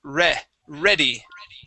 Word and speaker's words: ready: So instead of reading that as ready, it is ready. Ready. Excellent. Whenever we add this Y to the end of the word, this becomes a short E sound. All right, so usually, yes, that would be either read or read if it's in past tense, but that Y makes it ready, okay?